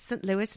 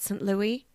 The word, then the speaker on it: St. Louis: She said it's St. Louis, not St. Louis. Okay. That's how Americans say St. Louis.